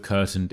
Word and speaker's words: curtained: It should be curtained, however, it's not. And this is especially confusing because we have another word in English which is similar to this, contained, and that is pronounced tained. However, with curtained, it's tund. So I'm sorry, there's a